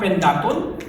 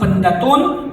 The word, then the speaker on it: Pendatun: Potter from the hood it is not pentacle it should be pronounced panettone from the root word